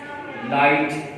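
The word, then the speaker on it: light: जी एच की sound नहीं होती, जैसे हाई, लाइट।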